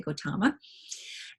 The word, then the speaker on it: Gautama: clan okay and but his name was Siddhartha Gautama sometimes you'll see Gautama written as g o ta ma because it's pronounced that way Gautama and around his birth its health and again